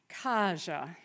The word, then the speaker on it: Kaja: Kaja. Kaja. Say it with me. Kaja. You can only really say her name properly on an exhale.